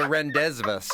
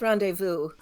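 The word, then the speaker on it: rendezvous: phonetics all all right the r Vu does not end in v it is not the r it is to me the renesas I often like to call it please no yeah but no it's randevu there are plenty of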